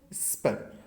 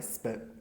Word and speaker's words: spur: स्पर। रे silent होता है स्पर।